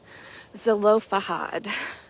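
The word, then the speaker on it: Zelophehad: zelofahad I had to look up how to pronounce that right zolofahad and it was milka hogla terza Noah and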